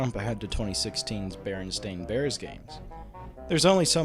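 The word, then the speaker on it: Berenstain: actually centers around the baron stain bears as many people misremember the name as Baron Stein spelled like Frankenstein wait a minute the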